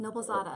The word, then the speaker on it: Noblezada: Zach wants to know how to pronounce your last name. Noblezada. I've been saying it. Noblezada.